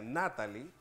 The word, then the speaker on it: Natalie: nombre Natalie se pronuncia Natalie El golpe de voz de la fuerza de voz se da en la sílaba na es decir que bajo